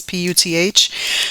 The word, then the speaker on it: Puth: Then I got the song One Call Away by Charlie Puth, I think is how you pronounce his last name. It's Puth.